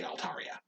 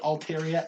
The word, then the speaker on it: Altaria: the clouds so i it's arya like a song that's that that's just why i say altaria yeah that's really it but i i i've heard people call it alteria and i used to call it alteria so that makes sense you can continue it's just a different pronunciation of the a it's not like huge